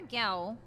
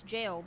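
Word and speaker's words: Gaol: Okay, so we're near a Gowl. And I'm gonna keep pronouncing it Gowl. I know it's jail, but I like pissing people off.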